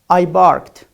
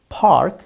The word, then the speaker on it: park: أنت تريد أن تقول park ولكنك نطقت الباء you pronounced pa as ba.